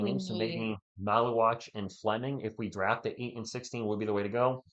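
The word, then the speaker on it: Maluach: So, Common Maluwatch seems like he could be a Maluch. No, it's Maluwatch. Are you sure? Yeah, Okay. it is Maluwatch. I looked up how to say it. Okay. It's not Maluch. It's Maluwatch.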